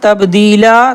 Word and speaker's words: تَبْدِيلًا: لام الف زبر لا، لام دو زبر لن نہیں کریں گے بلکہ الف کو پڑھیں گے، یعنی تبدیلا. ایک مرتبہ دیکھیں، فَلَا تَجِدَ لِسُنَّةِ اللَّهِ تَبْدِيلًا.